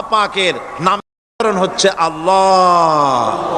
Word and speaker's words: আল্লাহ: আল্লাহ পাকের উচ্চারণটা হচ্ছে আল্লাহ পাকের নাম হচ্ছে আল্লাহ মুখটা একটু গোল হয়ে যাবে বলেন আল্লাহ আল্লাহ পৃথিবীতে বিভিন্ন জাতি